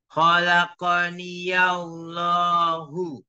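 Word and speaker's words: خلقني الله: Kemudian ya ini bisa kita hidupkan. Maksudnya hidupkan itu dibacanya hidup. Bukan kholaki terus Allah. Tapi ya-nya hidupkan. Khalaqaniyallahu. Khalaqaniyallahu. Ya-nya dihidup. Khalaqaniyallahu.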